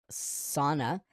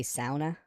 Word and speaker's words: sauna: Sauna. I think you're supposed to say sauna. Sauna. I say sauna. That is the bad North American pronunciation of this.